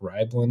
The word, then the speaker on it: Reiblin: My actual name is Reiblin, but Reiblin is like the hardest last. You wouldn't think it'd be that hard. It's like 2 syllables, Reiblin, but like super hard.